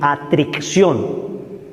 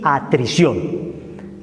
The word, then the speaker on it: atrición: existe la contrición ojo no se dice contricción ni atric aunque parece uno disléxico se dice contrición y atrición la atrición Me convierto